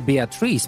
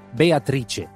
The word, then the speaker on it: Beatrice: And he told me, while it is okay to say Beatrice, because that's the way we pronounce it in English, but this Beatrice is